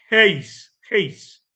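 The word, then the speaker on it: εἷς: Esta palabra se pronuncia como heis.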